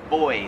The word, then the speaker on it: buoy: floats in the water we pronounce that buoy here in australia they pronounce it boy like boy and girl kind of like f